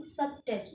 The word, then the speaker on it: sabotage: This is the subtage. Why I am saying subtage? Because SAB sub TAGE tej subtage and O is silent here. O will be silent. That's why I am saying subtouch. Okay, right pronunciation will be subtouch.